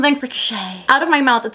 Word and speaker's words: Ricochet: I have been alerted to the fact that I pronounce Ricochet as Rick O'Shea, the proper name, and I don't know how to fix that.